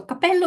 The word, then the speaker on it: capello: is it a pitfall because guys in English we don't really have any uh situation in which just by making the same consonant stronger and that's the effect of the double it changes its meaning whether you say I